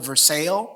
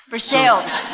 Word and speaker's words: Versailles: But we're talking to Lori, who comes from a place in Kentucky that I learned is spelled like in France, Versailles, but they call it Versailles. Versailles.